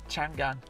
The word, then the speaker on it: Chang'an: Yeah, Can you pronounce this car's name? Chang'an.